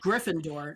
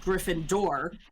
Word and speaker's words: Gryffindor: Griff is like very clearly the hardest syllable, the most emphasized syllable in that word, right? Right. So when you sing it, you want it to sound like you're saying Gryffindor, not Gryffindor, which is how she sings it here.